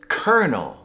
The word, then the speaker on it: kernel: with this word, but it's often mispronounced as colonel or colonel. People are probably getting it confused with the word colonial or colony. But the proper pronunciation is kernel.